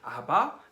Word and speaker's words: ABBA: 영어로는 ABBA라고 적는다고 하는데요. 발음해보면 아바 또는 아빠라고 부른대요.